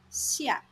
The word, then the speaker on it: 下: Alright, let's take a quick look at this character, xia. This character is pronounced as xia, fourth tone, and the basic meaning is down or below.